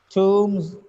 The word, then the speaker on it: tombs: Combs, bombs, tombs, games. Tombs, the words have b at the end, but the last sound is m. B is silent here.